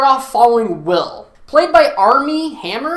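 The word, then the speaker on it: Armie Hammer: following will played by army hammer I think it's how you pronounce it and every time I say his name I think Arm & Hammer like the detergent will works at Rosie's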